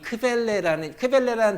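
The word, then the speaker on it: Quelle: 지금 봄이에요 그죠 봄 스프링이잖아요 그죠 스프링인데 도어로 크렐레라고 읽어요 원천이라는 단어를 크밸리라고 그래서 이거를 부르면 요거를 q문헌이라고 부르는 이유가이 크벨레라는 단어가 원천이라는 뜻인데요 이거를 원천이라는 곳에서 q문은 이렇게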